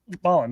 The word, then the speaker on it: Malen: points are, you got is it pronounced? Is it Malin? You'd have to show me who you're talking about. Malen, one of their strikers. MALAN. Dortmund. Maybe I'm talking about Mullen? Mullen, yeah. That's why I asked you if that's how you pronounce it.